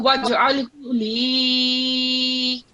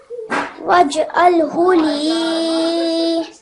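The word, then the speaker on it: وَاجْعَلْ لِي: point that out that here we have Mad Saghir, so you didn't prolong it at all. So make sure you prolong it. So waj'alhu li. So do that again. Waj'alhu li.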